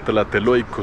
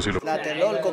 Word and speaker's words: Tlatelolco: Y yo sé que ese edificio se llama Tlateloico. Tlatelolco, cabrón. Güey, si vas a venir, pronúncialo bien, güey.